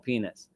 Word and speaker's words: Pines: schomo his the pro I keep calling him Pines because that's how I'm pronouncing my whole life but the proper pronunciation of his name is schomo penis right and his his